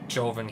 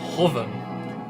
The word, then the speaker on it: Joven: Well, actually, I looked it up, and apparently his name is actually pronounced Hoven. Like, I just googled Hoven pronunciation, and yeah, like, it's more like an H sound than a J sound, apparently.